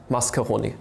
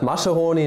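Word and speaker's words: Mascheroni: constant oily mascarone constant mascarone constant right not macharoni not uh macaroni this time i pronounce it correctly i've seen your comments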